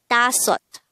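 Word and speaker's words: 다섯: the native korean version of number five is da sot pronounce it with me tassot this is composed of two syllables the first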